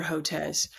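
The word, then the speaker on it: Hotez: just so you know Jazz okay yeah Peter Hotes um I've had plenty of experience with him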